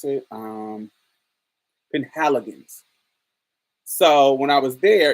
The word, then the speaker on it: Penhaligon's: How do you pronounce it? Penhaligon's.